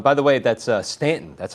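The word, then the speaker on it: Staunton: Oh, and by the way, that's uh Stanton. That's how you pronounce it in Virginia. Yeah, we got friends down there. It's called Stanton. I know it looks like Stuntton, but it's Yeah, I wanted to stay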